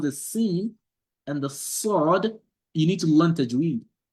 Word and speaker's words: ص: So the learning of the tajweed makes you to know, oh, the sin is pronounced with the open mouth, and the sod is pronounced with a round mouth.